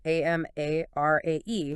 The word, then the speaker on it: Amarae: on the YouTube channel Amarae Inspirational. Okay, and that's Amarae, spelled A-M-A-R-A-E. That's right. And pronounced Amarae.